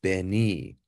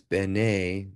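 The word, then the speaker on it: בני: If it was a hirik or just one dot, it would be b'ni, so it would be my son. But because it's b'nei, you pronounce it with the A sound, it means children of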